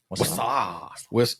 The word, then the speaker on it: Wausau: Wazoo, Wisconsin. I'm going to show it to you. Wausau? Wausau, Wisconsin.